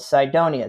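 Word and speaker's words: Cydonia: And the region of Mars that this thing was found in is called Sidonia. That's spelled C Y D O N I A.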